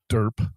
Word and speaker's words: DRP: up this silly term which pronounced derp which is not a good thing said that okay we're